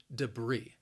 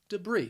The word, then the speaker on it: debris: to end it with that long e sound debris debris say it with me debris and you might use or actually hear this